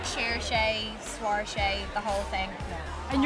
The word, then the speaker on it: Saoirse: That was perfectly pronounced on both ends, right? Perfect. Saoirse, people don't always get the name right, do they?